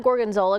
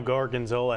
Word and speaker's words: gorgonzola: olive oil you know gorgonzola has four syllables that's hard to say cut so you know